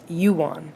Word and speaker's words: Johan: i got that correctly oh he even says you pronounced it you won wait it's pronounced yuan from sweden so shout out to